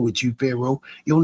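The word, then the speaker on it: Faro: The world knows Pharaohs to be kings, my My name is spelled fashion pharaoh. F A R O.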